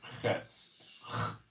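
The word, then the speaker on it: חֵץ: It's pronounced chetz. Chetz. Very difficult for an English speaker to pronounce.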